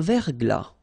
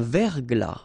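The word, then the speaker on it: verglas: brouillard une rosée un ver glas un ciel clair un ciel couvert un ciel nuageux une bruine une rosée fin not pronounced un Vergl final s not pronounced un Vergl un ciel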